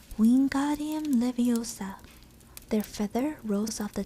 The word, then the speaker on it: Leviosa: luck when got him leviosa he shouted waving his long arms like a windmill you're saying it wrong having heard hermane snap it's wingardium leviosa make the god nice and long you do it then